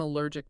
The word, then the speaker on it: allergic: And the functional, life-saving phrase I need to know is, I'm allergic to substance. Exactly. Practice that phrase with the correct pronunciation. Allergic. L-U-R-gic.